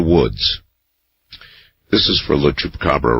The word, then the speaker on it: chupacabra: Last night, someone butchered the pronunciation of chupacabra in an interesting way. I believe he called it chupacargo.